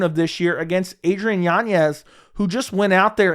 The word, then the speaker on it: Yanez: but I saw an interview that's how you pronounce his name apparently it's Yanez instead of Yanez and for Adrian Yanez I mean he is